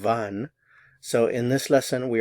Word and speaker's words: wann: Notice the pronunciation, wann.